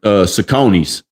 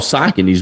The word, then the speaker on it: Saucony: when you said like Saucony's. Remember Saucony shoes? They're called Saucony's, but where we from, we call them Saucony's. All right, you got some Saucony's? You got them new Saucony's?